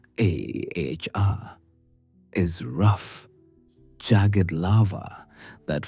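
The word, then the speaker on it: ʻaʻā: Ah, pronounced a hr is rough jagged lava that forms a clinkery broken surface as it cools.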